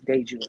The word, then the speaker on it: DeJewel: So it's So Dejour is like the first of my name, which is, like Day, and then the jewel is because I'm simply, Jewel, the Jewel, but it's Day Jewel, pronounced Day Jewel.